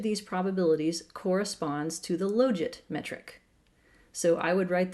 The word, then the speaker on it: logit: about my pronunciation of logit. His rationale is that it's the logit, because you don't take the log, you take the log. I can't argue with that.